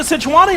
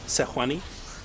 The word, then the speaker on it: Sejuani: Sejuani? Sewani? Sejuani? Yeah, man. The J is silent. The J is Yeah. Sejuani.